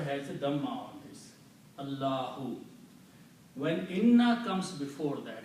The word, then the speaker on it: Allah: If the letter before lam has a fatah, then you have to pronounce Allah with heavy mouth, full mouth. Like in the azan, you have Allah, like your mouth is full. Okay? But if there is a kasra, then you pronounce lam softly. Okay? Kitabillah, billah. Okay? Fatah, heavy sound. Kasra, soft sound.